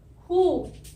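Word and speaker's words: who: यहाँ पे W की साउंड नहीं आती है और H की ह साउंड आती है, और O की बड़ी उ, और ये हो जाता है हु।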